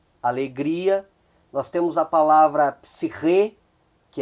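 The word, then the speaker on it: ψυχή: Nós temos a palavra psiche, que é alma, que também ocorre a acentuação na última sílaba.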